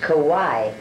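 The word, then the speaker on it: Kauai: about for a lifetime the island that uh we're going to is pronounced kawhi we're on maui now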